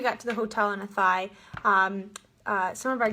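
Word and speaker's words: Athy: thought it was like a tie we thought it was this and then yeah it's a thigh and that's like a thigh like how it sounds like a thigh that's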